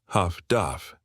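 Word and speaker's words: HF/DF: Highfrequency direction finding HFDF pronounced Huff Duff.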